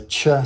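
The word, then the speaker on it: Ч: English numerical for symbol it is pronounced as a cha sound like Charlie and from what I've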